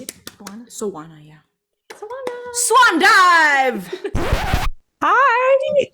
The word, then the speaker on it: Soana: Soana, yeah.